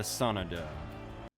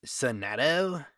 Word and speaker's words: Sonadow: life of Sonic and Shadow the Hedgehog the sonado um actually Phoenix it's pronounced Sado oh uh sadu Sada Sado Sado